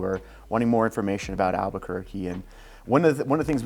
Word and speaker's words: Albuquerque: The correct way to pronounce it is Albuquerque, all right? But if you're an outsider or you're a non-Spanish speaker, then it's Albuquerque.